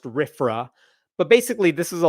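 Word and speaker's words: RFRA: freedom restoration act RF it's uh usually uh pronounced rifra but basically this is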